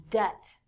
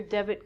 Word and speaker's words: debt: to give people money so it's not debit like debit card it's debt next one is doubt